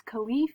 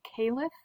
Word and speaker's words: caliph: politics the first is khalif or caliph you can pronounce it either way but this is a